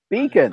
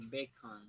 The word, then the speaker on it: beacon: You're the ON in English. You're pronouncing it way too Spanish, way too strong. It's softer. Beacon, bacon, beacon, bacon. Bacon, but about beacon. Your ON is it's too long, it's too heavy. Beacon, beacon. On. Not Beacon. on. Beacon. On, beacon, beacon. A beacon. No. Se escribe ON. Se pronuncia como UN. Como can. Beacon.